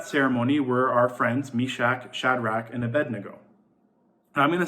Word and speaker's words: Shadrach: writing this message I kept messing up Shadrach and saying radcheck so if I ever say that just leave a comment be like you said it wrong it's a Shadrach hahaha and kind of move